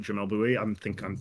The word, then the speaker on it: Jamel Bouie: Jamel Bouie. Yeah, that's how you say his name.